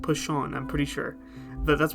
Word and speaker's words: Persson: coming into play yes his name is actually pronounced p Sean I'm pretty sure but